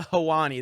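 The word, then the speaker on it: Helwani: about him such a douche so ariel hewani that's how you pronounce it ariel hawani made it all about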